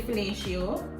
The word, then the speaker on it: fellatio: So I pronounced it correctly. It's actually fellatio.